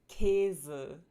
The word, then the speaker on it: Käse: The tense umlauts tend to occur in open, stressed syllables. Open syllables means syllables that end in vowels. So some examples are Mühe, Käse, fröhlich. The lax umlauts tend to